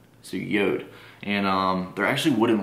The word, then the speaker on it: Jord: looks like it says Jord like that's how it's spelled j o r d but it's actually pronounced um yod so yod and um they're actually